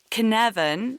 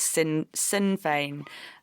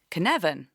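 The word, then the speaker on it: Cynefin: at you um Canan which is is spelled c y n e f i n so it's I thought it was sin sinane um as a Welsh word but I I'm told I've looked it up it's canavan and that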